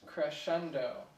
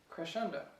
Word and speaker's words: crescendo: So it's actually pronounced crescendo. Crescendo.